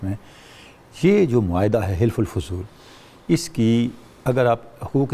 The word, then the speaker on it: حلف الفضول: ہے۔ بہت شکریہ جی، یہ حلف الفضول کہتے ہیں، حلف الفضول کہتے ہیں، تلفظ آپ درست کر لیں۔ بسم اللہ الرحمن الرحیم۔